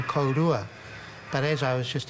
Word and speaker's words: kōrua: They They were saying kōrua, k o r u a. And I was saying kōrua.